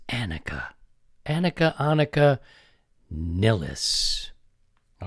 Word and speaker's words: Annika: some people will come back and say it's Annika.